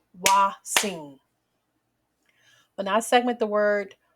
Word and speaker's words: hoatzin: now let's Clap the syllables the way it's pronounced waing when I segment the word wat I hear